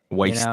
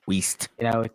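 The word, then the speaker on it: Wiest: Deanna West, if that's how you say her name. Waste. It's Weist.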